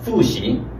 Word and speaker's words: 复习: 중국어 발음은 푸시, 푸시 이렇게 됩니다. 한글은 푸시. 자, P지만 F 발음이요. 여기 F가 있잖아요. 그래서 이 비읍이 F로 바뀌는 거예요.